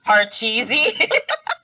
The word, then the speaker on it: Pachisi: You're calling it Pachisi, but it's pronounced Parcheesi.